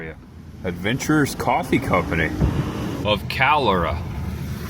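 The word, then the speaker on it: Calera: Adventurers Coffee Company of Calora. I think that's how you pronounce it. C A L E R A.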